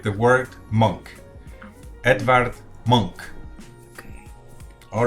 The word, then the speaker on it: Edvard: Edvard.